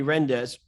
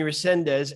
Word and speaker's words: Resendiz: the youtube search joe jr and rendez uh i just pronounced your name resendez excuse me resendez and joe juder prepage and you'll see the